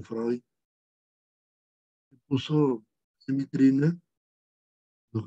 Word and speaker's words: Freud: El segundo hito, tenemos al doctor Sigmund Freud, escribe Freud, se pronuncia Freud, que puso en vitrina